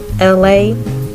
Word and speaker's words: Elay: subscribe comments below like share subscribe it's me la pronounce like only like the city I'm not from